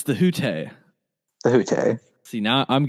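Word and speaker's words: Hütte: Yeah, and I mispronounced it on the podcast, and you corrected me, because I did. I just called it the hut.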